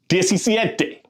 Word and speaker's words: diecisiete: Now, that little accent over that E just tells you it's a little bit more stress over that letter. That's why it's this he says.